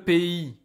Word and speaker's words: pays: Donc ici, le pays, c'est la France. Again, we saw this word before. I know the spelling is very strange, but the pronunciation is P-I. It sounds like this actually.